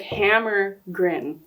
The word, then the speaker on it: Hammergren: our special guest hammergren welcome that's how you say your last name hammergren yeah hamren yeah close yeah like Hammer grin oh is that I